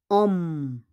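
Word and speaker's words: homme: And then we have Om. Om. Om is a man. We don't pronounce the H, okay?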